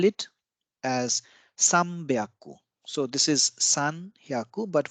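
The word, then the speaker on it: 三百: So instead of Sanbyaku, we call it Sambyaku.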